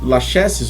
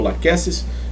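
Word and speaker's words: Lachesis: são gênero protops, crotalos, laches ou laqueces, né, e depende da da da pronúncia eh adequada na da na sua região.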